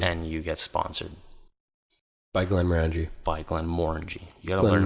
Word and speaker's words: Glenmorangie: And you get sponsored by Glenmorangie. By Glenmorangie. You gotta learn how to say it right, though. Glenmorangie. It's not gonna work out well. Glenmorangie. Think about orange. Morangie. Orange. Glenmorangie.